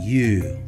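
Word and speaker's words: 湯: It means hot water, and it's pronounced you.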